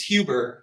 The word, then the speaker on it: Huber: It's Huber. It's I always pronounce it Huber. My family pronounces it Huber. Okay. It should be Huber. What is that? Was that French? It's German. I'm not very German at all.